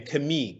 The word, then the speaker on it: Camille: that alex gibney and i've learned the correct pronunciation of your name kami kami francois thank you both very